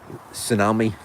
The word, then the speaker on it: tsunami: we could, you know, some words have got a silent letter in them or in front of them, like think of one, tsunami for instance. It's got a T in the front.